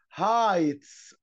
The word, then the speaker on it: heights: dear wolf incredible incredible incredible cool secret secret secret fear fear fear bear bear delicious delicious delicious heights heights الجي والاتش سايلنت heights heights bottle bottle bottle clear clear clear hill hill hill.